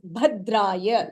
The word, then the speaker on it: भद्राय: So in this Bhadraya, the Bha is Mahapranaha, where you have to stress.